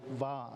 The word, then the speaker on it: va: I like that term in Samoan called va, just the two syllables, va, but we have to teuleva.